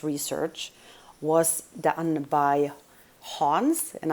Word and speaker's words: Hans: research was done by hans and i'm pronouncing that in swedish i believe it's a german name originally h-a-n-s hans celia